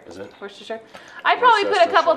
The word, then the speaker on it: Worcestershire: And Worcestershire sauce. That's a good one. It also gives it a little bit of a kick. How's that pronounced exactly? Worcestershire. Is it? Worcestershire.